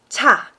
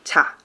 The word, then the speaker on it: 차: O veículo, no coreano, a gente vai falar cha, né, com esse som aspirado mesmo, cha.